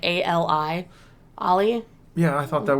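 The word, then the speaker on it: Alia: And then the Harkonnens find Lady Jessica's daughter, which I can never pronounce her name right. It's Ali.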